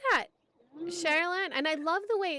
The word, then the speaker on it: Sherylanne: Sherylanne.